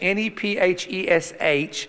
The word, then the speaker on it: nephesh: It's a word called nephesh, N-E-P-H-E-S-H, and I'm not going to spell it again.